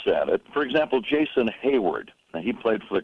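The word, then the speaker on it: Heyward: it, for example, Jason Hayward, now he played for the Cardinals and now, of course, for the Cubs. Now, his name is spelled H-E-Y, but on my scorebook, it's H-A-Y, because I want to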